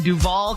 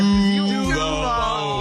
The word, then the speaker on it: Duval: Steve, this one is from Miracle in Duval County. You don't say it like that, Shirley. Come on. I know. I was waiting for you guys. Duval. Yeah, you all. Come on, sir. 3, 2, 1. Duval.